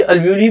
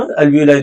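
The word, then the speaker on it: alveoli: अब ये अल्वियोली भी बोलते हैं, अल्वियोलाई दोनों, अब जिस जो प्रोनाउंसिएट कर सके, है ना।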